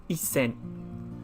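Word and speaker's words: 一千: by itself but the number one thousand is actually a one followed by the character four thousand so it's pronounced as isen there we go again we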